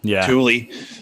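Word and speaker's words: Thule: model tle I know people say THU it's Tuli apparently they pronounce it Tulie so um fool I I used to say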